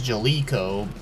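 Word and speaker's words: Jaleco: was developed and published by Jellico although I've also heard the name being pronounces Jellicoe but as for their company opening I've always thought it said Jellico and that's why I always used to call it well however it's said it's also the company that published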